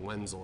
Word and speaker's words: Wenzel: over by us named Wenzel or benzyl they're German so they pronounce it with a V but they make all